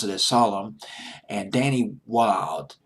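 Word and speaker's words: Wilde: a solemn and Danny wild WI L de l pronounce it as wild they formed the Rembrandt's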